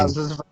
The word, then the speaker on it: Ng: pronounce her last name? Kim Yeah, Ang.